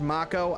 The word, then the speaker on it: Mako: I knew you'd been exposed to Mako from the look in your eyes. It's again I I I admit it's pronounced macco.